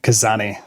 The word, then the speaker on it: Khazanie: desire to help others do I pronounce that right uh it's kazani for me better known as for